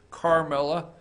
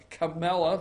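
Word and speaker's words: Kamala: number 27 Camela Harris I always put an R there because so sometimes I pronounce her Carmela Camela there's no are in there Camilla Harris has announced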